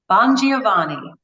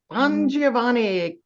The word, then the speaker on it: Bongiovanni: last 2 years is CarePatrol brand president, Becky, pronounce it, Bongiovanni? Bongiovanni. Bongiovanni.